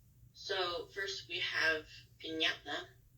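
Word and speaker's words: piñata: so first we have pinata so instead of saying pinata which would how you would do it without this little squiggly Mark since it makes the Nya noise pinata pinata um okay next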